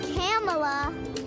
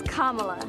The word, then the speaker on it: Kamala: american adults it's not camella it's not kamala it's not camella it's kamala kamala harris you know if